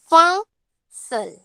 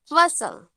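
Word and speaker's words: फ़सल: और नीचे जो वो बिंदी दिया जाए, नीचे बिंदी दिया जाए, तो उसमें हम ण का थोड़ा सा उच्चारण करेंगे, जैसे फसल, फसल।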